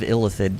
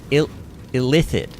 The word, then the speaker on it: illithid: I hate that word, because really, I feel like illithid rolls off the tongue better, but the game says it illithid. Which to me just sounds like the word illicit. Illicit and illicit, illithid and illicit sound way too similar.